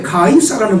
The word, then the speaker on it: 가이사: 원래 가이사라는 발음이 맞는 거예요.